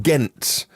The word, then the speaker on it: Ghent: xc40 recharge began in ghent with a silent h in belgium according to